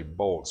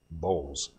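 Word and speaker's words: Bolz: one of these now it's tempting to say bolts but his name actually is pronounced Bulls but uh Sean Bowles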